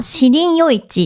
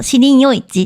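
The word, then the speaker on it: 士林夜市: 日本語の読み方は、シリン夜市っていう名前なん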